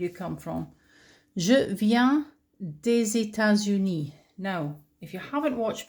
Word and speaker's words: des États-Unis: The S becomes like a Z, des États-Unis.